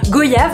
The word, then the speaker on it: goyave: En fait, c'est une pétition pour correctement prononcer le mot goyave. En fait, il nous explique qu'en gros, on dit pas goyave comme on dit pas voyage. On dit pas son Altesse royale, on dit son Altesse royale.